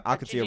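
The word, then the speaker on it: Al Qadsiah: AlQadsiah.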